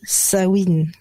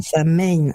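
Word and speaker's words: Samhain: à la base c'est un mot gaellque qui s'écrit S a M u i n d' sawin et non pas sa main et ouais et alors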